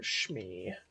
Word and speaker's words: Smee: It's spelled Smee, but it's spelled Shmi.